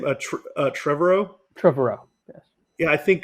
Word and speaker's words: Trevorrow: Trevorrow.